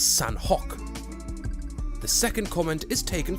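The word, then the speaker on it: Sanhok: Nicolo Zamora, who says, it's pronounced Sanuk, the H is silent. To you, dear Zabiro, I say when you become the dear narrator, you may pronounce it however you wish. Until then, it is San Hok.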